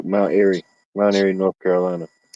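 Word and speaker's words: Mount Airy: It's like air, you know, like air for Mount Erie.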